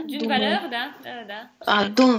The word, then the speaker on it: valeur: А вот дун вулёр на конце «р» читается, да? D'une valeur, да. Дун валёр, окей.